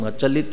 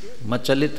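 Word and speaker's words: अचलित: उधर बोल रहे हो और अ शब्द का उच्चारण ख्याल में आना चाहिए भेद विज्ञान मूला म चलित मन भूति ऐसे लगने जाता है जैसे अनुभूति मचल रही हो भेद विज्ञान मूला अ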